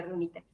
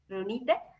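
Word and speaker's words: Riunite: de conocer acerca de Reunite. Sí. Uno es el nombre de la marca es Reunite. No Reunit, porque luego lo pueden escuchar así, pero el nombre correcto y la pronunciación correcta es Reunite.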